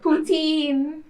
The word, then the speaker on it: poutine: You have maple syrup, poutine, and Putin?